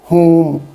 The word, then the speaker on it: whom: ठीक है, अब सबसे पहले मैं ये बता दूं कि इसकी जो प्रोनाउंसिएशन है WHOM, इसको होम पढ़ा जाता है। जैसे हम घर को होम कहते हैं, तो ये होम नहीं है, इसमें ऊ की साउंड है, ऊ।